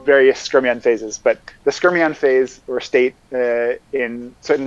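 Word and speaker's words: skyrmion: because there's still various scrumian phases but the skermion phase or state in certain magnetic materials is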